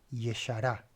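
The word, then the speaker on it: ישרה: Yashar, Yeshará. Fíjense qué interesante. Acá tengo, digamos, como dos sílabas, ya, shar, y acá tenemos tres, ye, shara.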